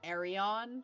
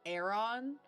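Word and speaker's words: Aryon: I feel like I have to say it like Arion, because if you say it like Aaron, it just sounds too close to, like, Aaron.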